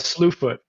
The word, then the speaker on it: Slewfoot: They call it Slewfoot.